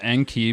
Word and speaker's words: Enki: triple flame emojis Anke I hope you pronounced it as n key but yes that's how